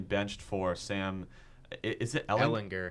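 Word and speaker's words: Ehlinger: Is it Ellinger? Ellinger. Yeah. Okay, I want to make sure I pronounced that right.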